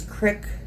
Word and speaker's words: crick: Like, for example, I know they didn't have the word creek or crick on here, but creek rhymes with squeak versus crick rhymes with prick.